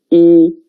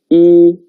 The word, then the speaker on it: 一: And the pronunciation is 一. 跟我读一.